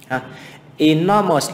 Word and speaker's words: enormous: Enormous là một tính từ 3 âm tiết và âm đầu là âm I. Thì tính từ hoặc danh từ 3 âm tiết nhé, mà âm đầu là âm I, trọng âm và âm thứ 2. Như vậy là enormous thì là 2.